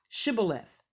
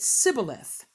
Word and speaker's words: Shibboleth: to say this word, Shibboleth, and the Ephraimites said Sibboleth. And because of that, they were able to determine that who the Ephraimites were, because it says here that they could not frame to pronounce the word right.